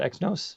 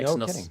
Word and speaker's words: Exynos: What's it called, Exynos? How do you pronounce it? I think it's Exynos, yeah.